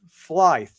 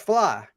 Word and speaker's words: Flythe: and I get pronounced Flythe, but don't Okay, ask me so how do you why. say it? It's fly. It's just fly. Fly. Don't ask me what. Just pretend like the THE isn't there.